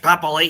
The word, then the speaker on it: Papali'i: It's fucking Joash Papali'i.